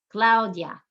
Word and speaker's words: Claudia: the i is weak lau dia lau dia two syllables and we emphasize the second to last the u and the